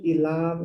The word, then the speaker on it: Ilam: Can you pronounce that again? It's a Pastor Ilam and Taplejun corridor.